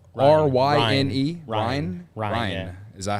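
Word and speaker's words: Ryne: Ryan. Yeah. Is that how it's spelled?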